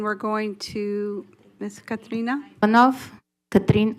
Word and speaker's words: Katrin: Katrin Ivanov, now A. I'm like the sister of the hurricane. Katrin. Did I say it right?